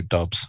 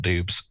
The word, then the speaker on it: Doubs: And Romeo Dobbs, not Doubs. It's spelled Doubs.